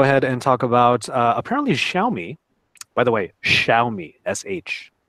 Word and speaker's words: Xiaomi: forum she's like an expert on how to pronounce it so Xiaomi so shout out to you tribe apparently they're